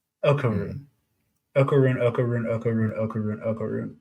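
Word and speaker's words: Okarun: It's Okaroon. Okaroon. Okaroon. Okaroon. Okaroon. Okaroon. Okaroon. Okay. But like, so yeah, so that's like the thrust of the first episode, right? And then Okaroon, he has this like kind of continuing thing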